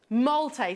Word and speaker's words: Molte: i can ask us how do we pronounce that look at that collection m-o-l-t-e malte thank you molte on our sister channel